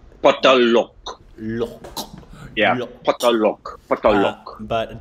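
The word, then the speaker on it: Paatal Lok: No, I'm smiling because that's exactly how I pronounced it. And every time I did pronounce it that way, Andrani was like, yeah, it's Patalok.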